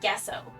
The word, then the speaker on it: gesso: Yeah, it sounds like gesso, or it looks like gesso, but it's pronounced gesso.